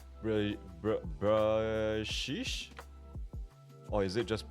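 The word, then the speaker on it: Bruxish: x i s h is pronounced like bruh uh wait let me just scroll up a bit bruh BR brish or is it just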